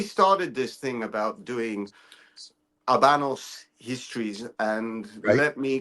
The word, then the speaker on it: Habanos: this thing about doing Abanos histories and let me correct myself and let me put it out there. I have been asked very nicely to pronounce properly. So you don't pronounce the H.